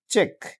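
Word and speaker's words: check: সঠিকটা হবে subtle subtle subtle এখানে বিটা উচ্চারিত হচ্ছে না এরপরে দেখুন সি কে বা সি কিউ যদি থাকে তাহলে সি উচ্চারিত হয় না যেমন সি এইচ সি কে চেক চেক এ সি কিউ ইউ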